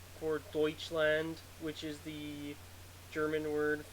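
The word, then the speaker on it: Deutschland: which is s for Deutsch land which is the German word for Germany I don't speak German but I don't know the pronunciation of deuts land EU is actually the same thing as oi I know that much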